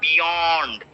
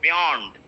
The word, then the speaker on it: beyond: beyond beyond before beyond it is not beyond be beyond its beyond beyond purge flow magic about